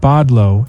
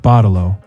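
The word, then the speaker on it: bottle-o: She wrote that down, pronouncing it bodlo instead of botto.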